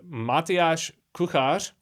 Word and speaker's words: Matyáš Kuchař: I'm here today with Matyáš Kuchař. That's correct pronunciation, right?